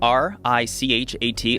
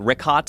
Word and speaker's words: Richat: Yeah, the Richat, R-I-C-H-A-T. It's worth mentioning he's got it already here. Yeah, in the first couple, I just want to say it's Richat. I used to call it Ricot.